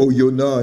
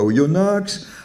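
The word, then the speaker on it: Oyonnax: sont on est d'accord oyona et pas oyonax alors celui-là c'est le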